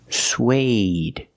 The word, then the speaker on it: suede: suede using the long a like day and say suede suede is a material